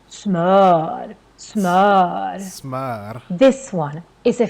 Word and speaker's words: smör: at first time, then maybe you think, oh, it's pronounced smör. But no, these 2 dots on the top, that makes a completely different letter in Swedish. And we also have different sounds of the if you have watched our previous videos. But here it becomes really long because we have just one consonant coming after. So that's why it's pronounced as smör.